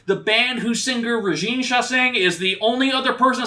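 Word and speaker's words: Chassagne: Chassaing.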